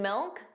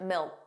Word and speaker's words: milk: The final K sound that C was not pronounced. It was just a milk. Milk. So you put your your tongue in the position of a K. Milk. But you just don't push out that sound.